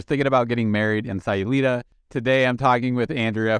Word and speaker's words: Sayulita: and Andrew corrected me I say salulita but she corrected me it's Sayulita so almost like SI is how I'm picturing in my head now gosh where to